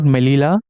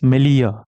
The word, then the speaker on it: Melilla: Not Melilla, it's Melilla. This also I checked.